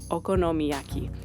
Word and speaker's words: okonomiyaki: traditional Kyoto dish called okonomiyaki yes as long as you pronounce it in Spanish you're probably not that far off miracles happening all over